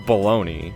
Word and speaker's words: bologna: bagna it's it's pronounced baloney yeah there's got to be a reason for that because it it sounds nothing like it's spelled if you were to